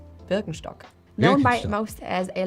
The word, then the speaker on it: Birkenstock: As with many other on this list, Birkenstock is rather difficult to pronounce. So it's not Birkenstocks, but Burkenstock known by most as a luxury jewelry manufacturer.